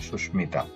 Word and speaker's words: সুস্মিতা: সুস্মিতা, এখানে দন্ত স্বরের সাথে মটা যুক্ত ছিল, সেই মটা উচ্চারিত হয়েছে সুস্মিতা।